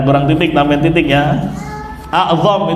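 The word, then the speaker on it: أعظم: Wa a'zamu, kurang titik lagi itu. Dan kurang titik, tambahin titik ya. A'zam itu bacanya, bukan. Ya benar, afwan. Enggak salah ya?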